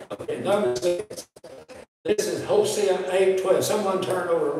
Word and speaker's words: Hosea: Rex Turner, I was in one of his prophets classes, and somebody said, oh, Brother Turner, he said, son, it's Hosea. And whether Turner was right or not, that's the way I pronounced it.